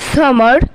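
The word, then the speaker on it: summer: গ্রীষ্মকালের ইংরেজি হবে সামার। অনেকেই বলে সামার, কিন্তু এটা ভুল নয়, কিন্তু শুদ্ধ উচ্চারণ করে বলতে গেলে এটা হয়ে যায় সামা।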